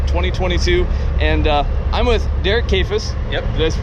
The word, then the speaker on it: Kayfes: We're hanging out at the Big Iron Classic 2022, and I'm with Derek Kayfes. Yep. Did I pronounce that right?